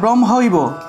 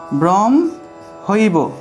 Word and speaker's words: ব্রহ্মৈব: এটার উচ্চারণ হলো হ, ব্রহ্ম হ যুগ ম একটা যুক্তবর্ণ, তাহলে ব্রহ্মৈব, ব্রহ্মৈব, এভাবে উচ্চারণ, ব্রহ্মৈব, ব্রহ্মৈব